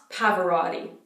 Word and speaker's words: Pavarotti: so for his last David's Parvati Parvati not Pavarotti okay bah bah but all t that all